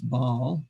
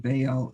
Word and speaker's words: Baal: that was baal uh often times people pronounce this baal but i think baal is uh more accurate meaning lord of all